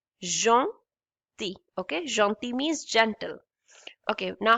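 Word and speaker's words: gentils: but in this word in this particular word we don't pronounce l we simply say janti jeant okay jonti means gentle okay now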